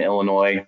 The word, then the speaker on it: Illinois: know we talked about the s being silent in illinois that french uh that french origin illinois um that lasalle was a french explorer in northern illinois that named the illinois